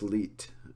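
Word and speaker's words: Lied: but it's actually pronounced leit um cuz sometimes in German when you end the word on a D sound it gets more of like a DT or t sound uh leader is the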